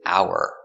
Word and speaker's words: hour: our first word is Hour 1 hour two hours hour the H is silent and we say hour no h sound hour example how far